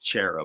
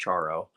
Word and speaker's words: Charo: As a kid, I pronounced it Charo, but I think it's actually pronounced Charo.